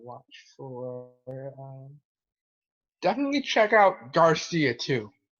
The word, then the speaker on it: GXRCIA: Definitely check out Garcia too. Garcia. Okay. And it's spelled a pretty odd way though. GXRCIA.